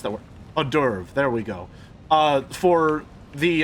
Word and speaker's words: hors d'oeuvre: The best part is this is merely an appetizer, a sweet hors d'oeuvre. That's not how you pronounce that word. Hors d'oeuvre.